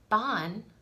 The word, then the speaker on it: Bean: in the closest as we can get english bon means woman that's all it means is i'm